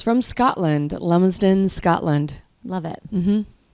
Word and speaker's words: Lumsden: Lumsden. People say Lumstrom. I don't know why. There's no T and there's no R.